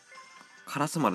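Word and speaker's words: 烏丸: カラス丸って読むんだよ。これ鳥丸じゃなくて。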